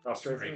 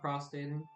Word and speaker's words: prostrating: Prostrating? Yeah. Prostrating, not prostating.